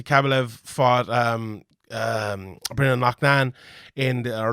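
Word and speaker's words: Loughnane: chris will obviously kabulev fought um um bringing lucknan in the uh luckney and as they call him it's an irish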